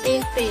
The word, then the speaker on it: TV: Nah, padahal secara KBBI T dan V itu dituliskan dengan TE dan VE. Nah, seharusnya dibaca TV bukan TV.